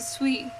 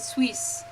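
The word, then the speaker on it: suis: So like like pretty much anything just is s u i s but you pronounce it swui. You don't pronounce it swiss. You just drop the last letter.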